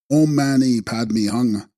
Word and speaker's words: Om Mani Padme Hum: These are of the essence mantra of Shanrazi, Avalokiteshvara, being Om Mani Padme Hum, pronounced Om Mani Padme Hung.